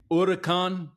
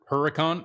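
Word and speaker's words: Huracán: Have you guys heard people say Urkan Lamborghini Urakan? Urkan. Like I get it if you know if that's your accent to pronounce the word Huracan.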